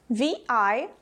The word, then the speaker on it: virus: For example, virus is with a V, not with a B.